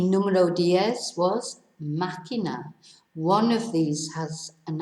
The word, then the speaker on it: máquina: Whereas máquina, it's not máquina. That would be how it should be pronounced if it didn't have an accent, with the stress on the penultimate syllable. But the accent on the A, the first A, tells us to stress the first syllable.